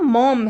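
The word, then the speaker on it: Maugham: Spelling पे ध्यान दीजिए, इनका नाम मॉम है, ठीक है, विलियम समरसेट मॉम.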